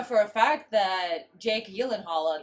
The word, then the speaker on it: Gyllenhaal: I know for a fact that Jake Gyllenhaal, that's how that's pronounced. Gyllenhaal. Gyllenhaal. Yeah, the J is not a J. Just like a fjord doesn't have a J in it. Neither does Gyllenhaal.